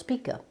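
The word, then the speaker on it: Spica: below Virgo Southwest of spika or sometimes pronounced spika it has several galaxies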